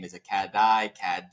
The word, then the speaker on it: Catdi: Why is it called Katy Printing?